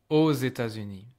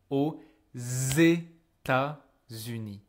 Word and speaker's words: aux États-Unis: Because even though this word by itself is pronounced O, I can hear there's a X because of the liaison I'm doing with États-Unis. I say aux États-Unis.